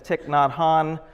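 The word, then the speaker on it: Thich Nhat Hanh: is almost unpronounceable but it's tick not Han he is the Vietnamese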